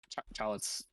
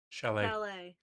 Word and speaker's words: chalet: Both daughters were buried in the nearby in the Charlotte's. Damn it, how do you say that word again? Chalet. Chalet. I hate French.